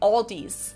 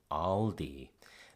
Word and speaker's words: Aldi: Of course, when these American English speakers say Aldi, that's not like my O in lot or cloth. It's their A as in palm or father.